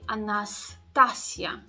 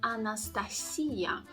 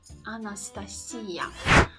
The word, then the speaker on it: Anastasia: ah and they say Anastasia Anastasia instead the stress goes on the very last syllable so it should sound as Anastasia Anastasia and our third example